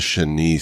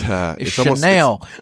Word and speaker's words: chenille: I call this a chenille style. Chenille, I don't know how you pronounce it. Sorry, guys. I do have a French background. It's Chanel. It's almost like, Chanel.